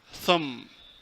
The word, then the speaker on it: thumb: kale oo yaqaanaan laakiin dabin thumb thumb thumb baada laguma dhawaaqay waa very silent letter marka thumb thumb waa